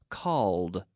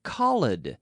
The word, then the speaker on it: called: me yesterday you called we have to force the DS sound into that syllable called called not Khalid no called called did